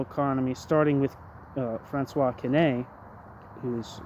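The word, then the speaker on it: Quesnay: in classical political economy starting with uh franois K whose name is spelled q s n a y ending with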